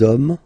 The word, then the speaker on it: hommes: homme, and after that you just put the S at the end. You don't pronounce it, so you get des hommes, okay. Un homme, singular form, des hommes, plural form.